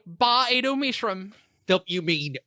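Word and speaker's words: Ba-Ado-Mishram: I say Ba Edo Mishram. Don't you mean Bay Auto Mishram? Well, sometimes. Look, if it's a long A on that first one, then that's fine.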